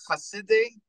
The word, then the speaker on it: Chasidei: so the term is khaside um three words I'll spell it for you so it's c-h-a-s-i-d-e-i umos